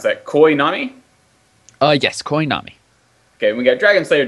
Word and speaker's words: Koi Nami: We have, what would you pronounce that? Koi Nami? Yes, Koi Nami.